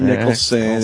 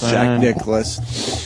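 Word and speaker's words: Nicklaus: right say it right not Nicholson it's Jack Nicholas dude that whole texting thing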